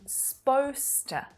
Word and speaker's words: supposed to: supposed to buy now native speakers actually take quite a bit of liberty with this pronunciation and often reduce it down to sposter sposter so it's really